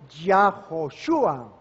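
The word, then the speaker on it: Yehoshua: Ya esa palabra directamente su forma compuesta se pronuncia yoshua que significa el eterno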